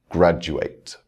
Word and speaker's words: graduate: Next, we'll look at words ending in ate, graduate.